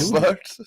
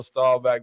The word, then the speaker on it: Staubach: Staubach. Staubach. Roger Well, he's saying Bach. Boy, it's Staubach. That's how it's spelled Bach, but it's Roger Staubach.